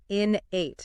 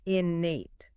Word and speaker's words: innate: So, people often put the stress on the second syllable, but it's actually the first syllable that gets emphasized. Inate, not innate.